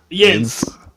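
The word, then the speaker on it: yinz: How you say it? Hey, Yins. Yins. Yes, that's it. Y-I-N-Z.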